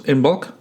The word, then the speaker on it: Imbolc: And so there's been in traditional Celtic cultures this Imbolc.